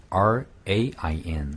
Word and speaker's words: rain: 네, 입 모양을 이렇게 동그랗게 모으는데 입 모양이 중요한 게 아니라 중요한 건 R, 혀가 말리는 게 동그랗게 말리는 게 중요한 거죠.